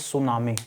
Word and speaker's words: tsunami: with this word here t is silent so we read this we pronunciate it as tsunami now tsunami was is